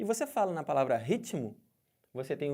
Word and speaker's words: ritmo: quero dizer com isso olha a palavra ritmo Eu tenho uma consoante eu tenho outra consoante uma do lado da outra e cada uma tem o seu som eles falam que esse T aqui é mudo né mas não tem nenhuma letra que fala então dentro desse negócio de mudo se você ouve o t ele tem som se você ouviu ele